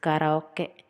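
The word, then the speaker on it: カラオケ: In Japanese, it is pronounced as karaoke, karaoke, karaoke.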